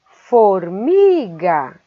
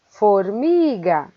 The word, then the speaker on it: formiga: Formiga, formiga, formiga. A sílaba mi é a mais forte e ela é a penúltima de trás para frente.